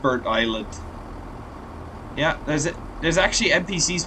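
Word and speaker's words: Burntisland: know those were there we soon arrive at Bert Island yeah it's pronounced Bert Island yeah there's there's actually NPCs walking along here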